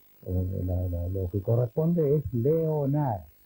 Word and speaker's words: Leonard: lo que corresponde es Leonard. Leonard. Leonard. Como Ray Sugar Leonard.